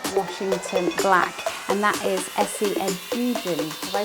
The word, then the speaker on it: Esi Edugyan: this fantastic book, Washington Black, and that is Esi Edugyan. Have I pronounced that right?